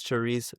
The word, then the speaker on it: Charis: How are you doing today, Charisse? I'm doing great, what about you? I'm doing well. I did pronounce the name right. I was gonna correct you, it's Charis. Okay.